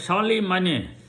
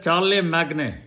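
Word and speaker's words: Charlemagne: He's called Charlie Man here written as Charlie Magnet in English Magnet but actual French pronunciation Charlie man.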